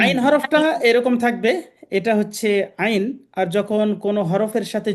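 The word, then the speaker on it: عين: তা মাশাল্লাহ সুন্দর হইছে ওকে নেক্সট হরফ হচ্ছে আইন আইন এই হরফটা উচ্চারণ করার সময় একটু গলা চেপে উচ্চারণটা হবে এইযে বা কন্ঠনালীর মধ্য হতে গলা চেপে আদায় হয়।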